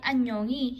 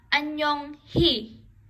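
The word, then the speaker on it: 안녕히: So, ang basa dito ay anyongi. Hindi mo pwedeng basahin na Anyong hi. Anyong hi. Hindi pwede pong ganon. So, ang bigkas po dito is anyo ngi. So, pagka nasa middle and after consonant, it will become silent.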